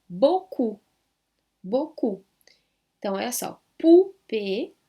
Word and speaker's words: poupée: E nada de tentar pronunciar aqui o nem u.